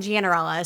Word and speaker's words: Gianarella: last name's not cinderella i just conveniently have the only last name that rhymes with cinderella i don't know how i don't know how i managed that my last name gianarella so you had to